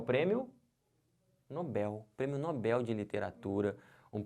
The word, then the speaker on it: Nobel: não estão vendo porque se você falar Nobel você vai acabar fazendo isso aqui ó colocando acento porque porque paroxítonas terminadas em L leva um acento a gente vai ver isso em acentuação daqui a pouco próximas aulas mas perceberam se você fala errado você vai escrever errado você botar um acento onde não tem isso aqui está errado o certo não é Nobel o certo é Nobel aqui ó como é